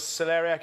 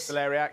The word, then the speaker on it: celeriac: Okay, so that was celeriac in there. Yeah, celeriac. The black garlic. Oh yeah, you call it. How do you pronounce it? Celeriac. That's incorrect. It's celeriac.